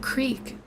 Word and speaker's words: creek: me we found that Creek I laughed not because of the content of the story but because I'd never heard someone pronounce it Crick before her head snapped up